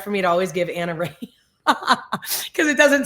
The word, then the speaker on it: Anna Rahe: We have Anna Ray. You spell my name. And that's why it's hard for me to always give Anna Ray because it doesn't sound like it's spelled.